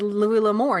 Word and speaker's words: Louis L'Amour: the name and he said, "How do you pronounce this name?" Julie said, "Louis L'Amour."